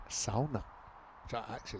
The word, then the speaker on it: sauna: And by the way, we're saying sauna, but if we're going to say it, the more authentic pronunciation, it's sauna, which I actually like saying it that way.